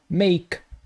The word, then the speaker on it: make: fim o som final e se ele não aparece não vai pronunciar o e não existe é make vejo muita gente falando